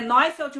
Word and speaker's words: Neufeld: é Neufeld, mas se escreve Neufeld.